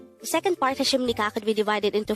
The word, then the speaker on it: 하십니까: And with that, you've just learned Annyeong Hasimnikka. Now let's test your learning by taking the following exercises. Read this. This is pronounced as Annyeong.